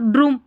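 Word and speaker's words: drum: करके पढ़ना है, हम ड्रम बन जाएगा। अगर हम यू को यू पढ़ते हैं या ऊ पढ़ते हैं तो ड्रूम, ड्रूम नहीं, ड्रम उच्चारण सही निकल रहा है।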